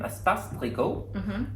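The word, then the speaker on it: Espace Tricot: It's a free pattern from Espace Plico, and you use two different colors of, I should probably, it's spelled E-S-P-A-C-E space T-R-I-C-O-T.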